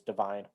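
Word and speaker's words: Da'Vine: Uh, sorry I might have mispronounced it as Deavine, but I think it's Divine. Um, because she's in Dolomite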